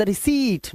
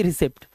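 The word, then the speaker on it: receipt: मुझे मिल सकती है, कैन I have the रिसीट, नॉट की रिसिप्ट, याद रखना।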